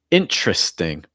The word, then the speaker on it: interesting: Our next one, interesting, interesting. So it's not usually going to be interesting.